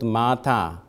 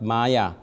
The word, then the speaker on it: māyā: So in Magadhi, the word of mother is pronounced as Maya, not Mata, not Mata as Sanskrit, but Maya. So Maya, my mother.